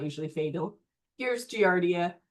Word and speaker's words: Giardia: The trick to pronouncing Latin names is just say every vowel and say it with confidence. So I sometimes stumble, forgive me, but just go Giardia. So every vowel. Lambelia. So Giardia lambelia.